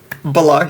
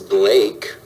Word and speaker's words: Blake: Balak. He just pronounces all the names wrong. No Balake here today. Balake. Yes, sir. My name is Blake.